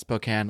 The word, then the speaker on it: Spokane: ever know who would ever know that it's pronounced Spokane unless you're from that area but regardless our